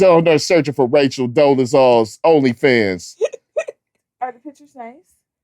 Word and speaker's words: Dolezal: Dolezal.